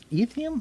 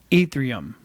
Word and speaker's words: Ethereum: guess um was it ethium is that how you spell it pronounce it oh it is i think it's pronounced um ethereum ethereum ethereum maybe maybe